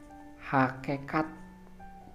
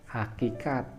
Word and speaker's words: hakikat: lalu juga ada kata hakekat padahal nah ketika kita melontarkan kata itu itu pengucapan yang salah yang betul ialah hakikat selanjutnya kata Jendral seharusnya